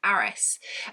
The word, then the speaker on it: Harris: lady called mrs harris but she has a cockney accent so she's pronounced as it mrs aris and and she is